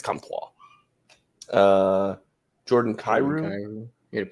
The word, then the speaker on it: Comtois: With Maxime, it's got to be French, right? Where's he from? He's from Quebec. It's Comtois.